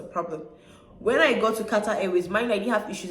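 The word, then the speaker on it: Qatar: when I got to Kat a mind I didn't have issues in instan right I didn't have issues in Cyprus when I got to Kata not Kat a when I went to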